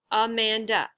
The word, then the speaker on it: Amanda: Amanda. That's 3 different syllables. And the second syllable is stressed. It's Amanda, not Amanda or Amanda, right?